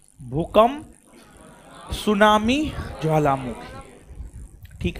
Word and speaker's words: सुनामी: ना व है आपको सुनामी तो आप हेडिंग मारिए सुनामी सुनामी सुनामी T silent है ठीक है टी साइलेंट